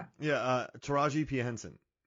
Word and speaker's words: Taraji: Tarijia. Yeah. Uh Taraji Pensen.